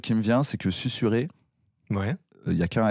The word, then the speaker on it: susurrer: Mais du coup, je me suis dit, c'est marrant, ça doit être le seul mot où il y a un S entre 2 voyelles qui se prononce et pas Z.